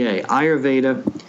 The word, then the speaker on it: ayurveda: do an ancient technique of medicine called ayurva that's spelled a yur v d ayurveda and that rejuvenates the physiology in many ways